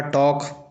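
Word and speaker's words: talk: उसी प्रकार टॉक टॉक का स्पेलिंग इस प्रकार से होता है किंतु पढ़ा इस प्रकार से जाता है।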